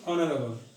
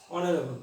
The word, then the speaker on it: honorable: The pronunciation is honorable. And if you use H, what's the pronunciation? The pronunciation is honorable. So H is unpronounced here.